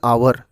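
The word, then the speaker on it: hour: Similarly an आवर, यहाँ पर आवर में अ की साउंड निकलती है।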